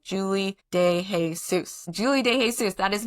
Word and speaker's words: de Jesus: it right because my name is now Julie de Jesus.